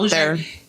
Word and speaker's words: Bossier: been But up Bossier, there. It's spelled fucked up.